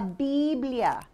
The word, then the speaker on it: biblia: we have the bible la didlia si la bibla that's how to say the bible in spanish maybe you could say it with us la la biblia can you try chris